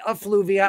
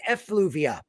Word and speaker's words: effluvia: them uh mr g i did not say a fluvia i said effluvia effluvia which means human excrement okay there thank you it has extra syllables and mr g has